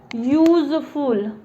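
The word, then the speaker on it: useful: इसका उच्चारण क्या हम कर रहे हैं, तो इसका उच्चारण हम कर रहे हैं यूजफुल, यूज य, और यह हमारा भावेल नहीं होता, अ आ ई ए उ, अ आ ई ए उ, ये 5 भावेल उच्चारण जनरली आते हैं। तो यू मेरे भावेल में नहीं आता है, तो द काउ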